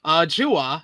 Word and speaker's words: Chua: Is going to be Lee Moriarty defending against Chua. Yeah, it's not how it's spelled. Chua.